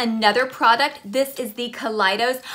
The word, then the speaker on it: Kaleidos: This is the Kaleidos. I say Kaleidos because I think kaleidoscope, but a lot of people say Kaleidos.